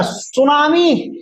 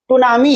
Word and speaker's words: tsunami: है ना अब कहिएगा सर टी से लिखा हुआ है टूमी है तो टूमी नहीं पढ़ा जाएगा यहां पे टी क्या होगा बेटा साइलेंट कर जाएगा टी क्या हो जाएगा साइलेंट जैसे नाइफ लिखते हैं